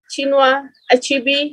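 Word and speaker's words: Chinua Achebe: he was the writer chinua achibi he was the writer you have to pronounce it in that way the pro of pronouncing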